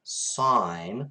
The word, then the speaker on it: sine: sine of theta and it is pronounced sine not sin i will correct you